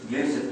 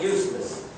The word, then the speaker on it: Yusuf: My name is Yusuf. Can you say Yusuf? Yusuf. He said it perfectly. I don't know why they said they got it perfect. My wife, she still pronounces it useless.